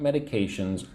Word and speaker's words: medication: You know, at this time, what medications are you taking? Say the word with me. Medication. Four syllables. Medication. Medication. So again the third syllable one two three that has the emphasis medication medication.